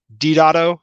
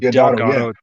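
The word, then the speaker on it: Deodato: I'm trying to get from I think it's 383 to the last issue because Mike Dotto, that's how you pronounce his last name. It's not Delgado.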